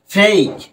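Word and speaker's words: fake: তাহলে ফেক, ফেক, right, ফেক। কিন্তু এখানেও কিন্তু ইটা কিন্তু উচ্চারিত হলো না, অর্থাৎ শব্দের শেষে ই উচ্চারিত হবে না।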